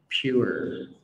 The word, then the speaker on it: pure: Đó, mọi người hay đọc là pure. Lưu ý đây là cái cách đọc không chính xác, bởi vì mình bị thiếu cái âm cuối. Cái từ này bao gồm hai âm tiết đi, gọi là pure.